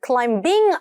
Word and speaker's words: climb: 묵음입니다. climbing a ladder 아니고 climbing으로 가셔야 돼요.